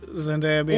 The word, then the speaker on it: Zendaya: up and i saw zendaya yeah it's it's z-e-n the word day ah how do people